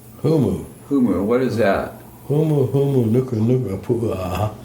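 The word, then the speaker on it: humuhumunukunukuāpuaʻa: Humu, nuka, nuka, pua. It's I'm not going to try to spell that. actually it's not that hard. Humu twice and nuka nuka twice and napua.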